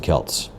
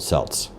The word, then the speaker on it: Celts: And I have been saying Celtic wrong. I've been saying Celtic for a long time. Why? Because we mispronounce things in America and simply because of the basketball team uh the Boston Kelts. We should be calling them the Boston Celts. Doesn't sound as cool, but that is actually correct.